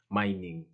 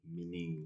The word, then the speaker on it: Mining: meaning yeah you know the pronunciation is different it's mining not actually meaning the meaning so it is m-i-n-i-n-g